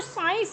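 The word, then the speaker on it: science: ये जो साइंस है ये एस वाली साउंड आ रही है, note of सी साइलेंट letter है यहाँ पर.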